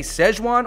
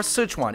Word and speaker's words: Sichuan: from round two at Sichuan Mountain House.